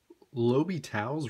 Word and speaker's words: L'Hôpital: L'Hôpital's rule, and that is how you say it, he was French, says that if you